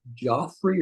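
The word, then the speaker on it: Geoffrey: Is it Joffrey or Jeffrey? The this is Jeff unwritten Jeffrey. Okay.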